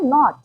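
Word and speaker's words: knot: है वो साइलेंट है देन के एन ओटी इसे हम पढ़ते हैं नॉट एन ओटी नॉट लेकिन नॉट एन ओटी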